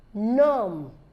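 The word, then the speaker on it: gnome: a song not pronounced num g-n-o-m-e so the g is silent likewise the E sine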